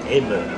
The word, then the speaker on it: Amber: Nous allons nous rendre à la citadelle d'Amber, qui se prononce Emmer.